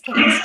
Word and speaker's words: Kaitz: I'm really excited that I'm here today with, and I want to make sure I'm pronouncing your last name right. Is it Kaitz? It is Kaitz. It's Kaitz.